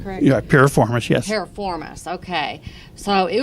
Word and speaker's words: piriformis: miss my soul i think that's how it's pronounced yeah piriformis yes performace okay so it was really I